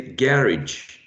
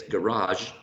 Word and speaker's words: garage: Some people will say garage, garage. So I guess garage is closer to French pronunciation, right? And some people say garage. That sounds to me more English.